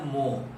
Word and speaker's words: mho: इसका यूनिट लिखते हैं मो। आप देख सकते हैं स्पेलिंग को, OHM होता है ओम, और हमने लिखा MHO, ठीक उसी को उलट दिया, तो यह हो गया मो।